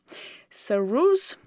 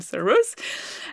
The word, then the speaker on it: Sarrus: For example, with su rule, sus is the name of the French guy. So actually the pronunciation would be su but never mind, we call him sus.